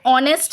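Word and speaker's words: honest: হচ্ছে তাই আমরা তার আগে এন বসাবো এন অনেস্ট ম্যান H consonant কিন্তু উচ্চারণ দেখো ভাওয়েলের মত তাই অ্যান অনেস্ট ম্যান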